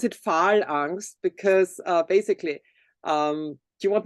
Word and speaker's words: Phal:Angst: We pronounce it Phal Angst because basically, do you want me to tell a little bit about the name?